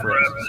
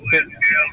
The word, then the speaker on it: Fitz: There's no R in it. I said Fritz. Sorry. Fitz.